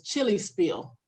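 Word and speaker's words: Chilispiel: They still have they spell it in a German way, but it's chili spiel. That's what it's called.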